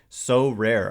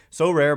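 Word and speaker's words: Sorare: that this episode is brought to you by so rare our new sponsor so rare is a revolutionary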